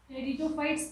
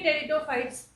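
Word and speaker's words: Pteridophytes: थैलोफाइट्स, थैलोफाइट्स और algae, ब्रायोफाइट्स, ब्रायोफाइट्स, टेरिडोफाइट्स, P silent होता है यहाँ पे, टेरिडोफाइट्स, जिम्नोस्पर्म्स and angiosperms.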